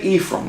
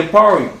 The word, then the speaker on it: Ephraim: So you can say Ephraim, that's fine. You can say Aparium, that's fine. If you can only pronounce it like this, okay. If you can only pronounce it like this, if you'd rather have that, that's fine too.